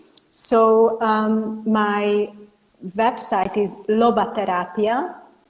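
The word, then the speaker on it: lobaterapia: um my website is Loba therapia it's exactly the way I uh pronounce it it's l o b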